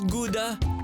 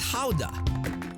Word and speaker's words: Gouda: happening in full swing pronounces gouda or gouda in other parts of the world here the cheese is known as howda named after the town where it has been sold since 1395.